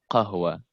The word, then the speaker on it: قهوة: قهوة. قهوة. قهوة. قهوة. not خ. It's ها. قهوة. قهوة. قهوة. نادي القهوة. نادي القهوة. Okay. Right. قهوة.